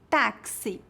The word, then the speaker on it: táxi: exemplo exame exemplo exótico geralmente pronunciamos o x como KS em palavras emprestadas de outros idiomas por exemplo táxi complexo oxigênio um detalhe importante